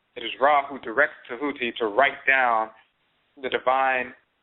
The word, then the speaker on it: Tahuti: You see Tahuti, or mispronounced Thoth, with his palette, his divine palette, and he's writing.